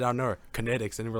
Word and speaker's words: Kinetix: Kinetix, so it's like kinetic energy, but instead of a C, it's an X. So it's just Kinetix.